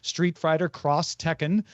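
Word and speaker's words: Street Fighter X Tekken: thing in his opinion in Japan when you see an X in marketing it's usually pronounced cross this is very prevalent in video games for example Street Fighter cross Tekken is pronounced that way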